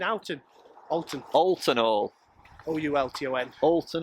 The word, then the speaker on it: Oulton: Oulton? Oulton or Oulton? Oulton Hall? Oulton, you keep saying Oulton.